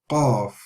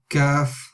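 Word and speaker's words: قاف: Qaf, Qaf, not Kaf, no, not Kaf, not Kaf. Qaf, Qaf. Okay, so we need to make sure we're saying it correctly.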